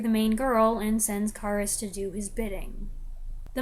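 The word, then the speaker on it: Kharis: change by the way in the previous movie most of the time the emphasis was on the second syllable but now most of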